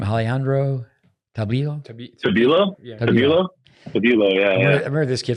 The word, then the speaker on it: Tabilo: So this young guy, how do you pronounce his last name? Alejandro Tabilo? Tabilo? Yeah. Tabilo, yeah.